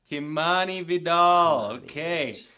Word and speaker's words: Kimani Vidal: Kimani Vidal.